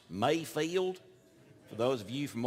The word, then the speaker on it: Mayfield: Actually, it's pronounced Mayfield.